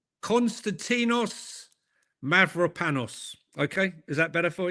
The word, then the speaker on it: Mavropanos: I've uh I'm not the best at pronouncing Mav- There you go. Let's get it right. Konstantinos Mavropanos. Okay? Is that better for you? Konstantinos Mavropanos.